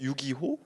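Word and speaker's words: 遊戯王: 그 밑에 이제 우리 카드 게임 만화로 유명한 유이왕. 유희왕이구나 저게. 네네. 유기호. 네. 일본어로 유기호라고 읽더라고요.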